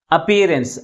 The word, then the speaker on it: appearance: Second one is pronounced with a greater force comparing with other syllable.